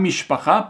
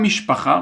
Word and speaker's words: משפחה: Par exemple, mishpacha, regardez ici, j'ai fait ça. C'est quoi les syllabes? C'est mish, pa, cha. On a 3 syllabes.